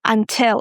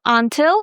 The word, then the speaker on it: until: Guys, we stress the second syllable, tell. Until. It's not until, it's until.